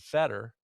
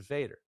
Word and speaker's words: Feder: called it they used feder so I I don't really take much more about that than than it is but it's very it's very very close to the German pronunciation so there's not much